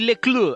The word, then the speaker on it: Leclue: Her name was Se llamaba Jenny LECLUE, Jenny LECLUE, así se pronuncia.